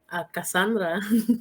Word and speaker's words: Kassanndra: Cassandra.